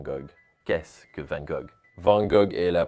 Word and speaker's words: Van Gogh: Vous avez besoin de cette prononciation à l'arrière de votre langue pour prononcer le mot correctement.